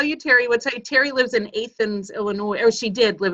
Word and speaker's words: Athens: And I go, no, it's not pronounced Athens. It's pronounced Athens. Yeah, we're the only place that pronounces it wrong.